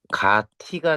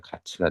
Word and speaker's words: 같이: 이때는 가티가 됐다가 발음하기 불편하기 때문에 가치가 됩니다.